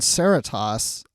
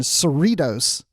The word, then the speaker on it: Cerritos: has to say so I'm just gonna correct you on Sarah toss I wouldn't know how to pronounce this except for the fact that my company and maybe that's the correct pronunciation for the show I don't know but my company years ago I used to work at we had an operation in Cerritos California oh thank you okay